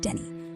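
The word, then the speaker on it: Denis: After that, you'll swing through St. Dennis, pronounced Denny, for some crimes.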